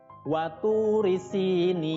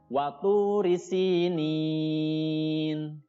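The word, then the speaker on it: وطور سينين: Nun kasroh bertemu dengan huruf ya sukun itu mad tabi'i ya, bacanya panjang 2 harokat. Tapi karena bertemu dengan nun yang disukunkan di akhir kalimat, namanya berubah menjadi mad arid lis sukun, panjangnya 2 sampai 6 harokat. Jadi dibacanya waturi sinin.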